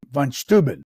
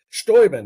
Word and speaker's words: Steuben: In Lafayette Park, another one is a guy named von Steuben. That's the American pronunciation of it. You write about him. Who was he? Yeah. Well, he's another character. Steuben, as the Germans pronounce it.